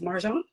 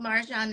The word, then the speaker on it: Marjan: It's Marjon. Yeah. I mean honestly the Persian pronunciation is Marjon but for a good 40 plus years uh I've been called Marjan and it's almost like equal to me.